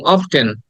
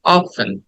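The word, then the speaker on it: often: আমি নিজেও করছি যেমন আমরা বলতাম অফটেন হ্যাঁ অফটেন অফটেন না it should be like অফেন অফেন অফেন অফেন right অফেন and next word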